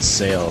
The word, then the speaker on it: Sale: I've heard it I've heard other people pronounce it as Sai before. I have no idea why. I think it's himself. I've never heard of it anything else but sale.